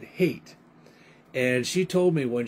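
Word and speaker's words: Haight: but it's h-a-i-g-h-t which probably the german way would be height but a lot of people pronounce that hate and she told me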